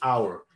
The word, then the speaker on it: our: Mucha gente tiene problemas para el our. ¿Qué podemos hacer? Pellízquense. Ouch. Ok, ouch. Ouch. A ouch, quiten el H, au, y pongan una R. Our, our, y listo.